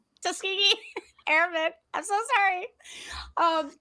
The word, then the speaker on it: Tuskegee: Uh, Tuski, Tuskani, I can never pronounce it right. Thank you. Tuskegee Airman. Tuskegee Airman.